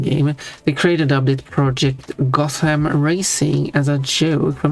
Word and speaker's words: Gotham: The original pronunciation had TH, as in had Gotham, but lost the H. The pronunciation with the th sound, as in Gotham, is a spelling pronunciation that arose from a misreading of TH as a digraph, because it is GOT as one word, HAM as a second word. There is no TH in the name.